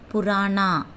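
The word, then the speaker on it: पुराना: பழைய, ஓல்டு, எப்படி ஹிந்தியில் ப்ரொனவுன்ஸ் பண்ணணும்? புராணா, பூ ரா நா, புராணா, பழைய புராணா.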